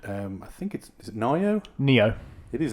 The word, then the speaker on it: Nioh: Neo. It is Neo. Yeah. It's spelled really stupidly.